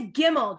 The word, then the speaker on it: gimel: so this is a gimel g-i-m-m-e-l if you're interested um and it's a guttural a guttural g not a soft g right not giraffe it's like uh gazebo you couldn't think of